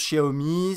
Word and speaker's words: Xiaomi: Alors ça se prononce Xiaomi, c'est un constructeur chinois que vous connaissez je pense, ça s'écrit Xiaomi, voilà pour ceux qui se posent la question.